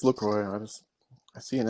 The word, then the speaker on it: LaCroix: Yeah, but I think you're supposed to pronounce the X. I think. Are you? Because I thought I looked it up a while back and it said LaCroix. No, it's LaCroix.